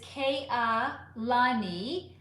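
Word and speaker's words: Kaelani: It's Ka E Lani. Ka ka lani. But everyone normally says kani.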